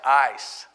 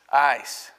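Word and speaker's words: εἰς: passage the original language the greek word that was used as translated for here is pronounced ice ice you put it in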